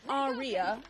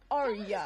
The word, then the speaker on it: Arya: But it's not Arya, it's Arya. It's just Arya. Arya. Like 2 syllables. Like, are you going to the ball tonight?